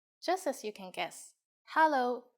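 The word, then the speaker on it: 哈囉: as you can guess Hollow is just hello with the Cantonese pronunciation we use it when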